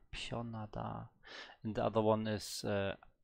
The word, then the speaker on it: 편하다: Oh, pion, not pen. Pionada.